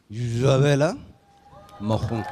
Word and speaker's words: Isabel Marant: He said, "No, you have to use the French pronunciation." "You must use the most authentic Parisian accent to introduce our brand to customers. Isabel Marant."